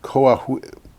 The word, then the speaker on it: Coahuila: It is the 754 megawatt Villanueva project, which is in the Mexican state of Coahuila. I don't know how to pronounce You don't Spanish.